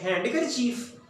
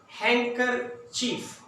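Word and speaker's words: handkerchief: हैंडकर चीफ? नहीं, हैंकर चीफ। डी को silent करें यहाँ पे, लेटर डी को पढ़ना नहीं यहाँ पे, बाकी आप पढ़े हैंकर चीफ, रुमाल।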